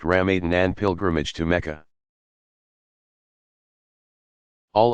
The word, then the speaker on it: Ramadan: with almsgiving daily ritual prayer fasting during Ramadan pronounced RAM Aden and pilgrimage to Mecca all of which will